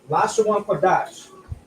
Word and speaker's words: Lashawan Qadash: This is a 2. That's a kwa, a da, and a sha. But we have a connector here that connects the da and the sha, which now is pronounced dash. So Lashawan Qadash.